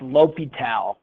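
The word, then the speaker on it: L'Hôpital: we call l'hopital's rule it's either spelled like this or it's spelled l hospital but it's pronounced l'hopital it's a mathematician who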